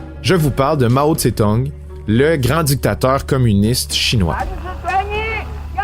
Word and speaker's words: Mao Tse-tung: Et, dépendamment des médias, la prononciation veut qu'on parle d'un certain Mao Tse-tung, selon le système Waid-Giles qui durcit une bonne partie des sonorités chinoises.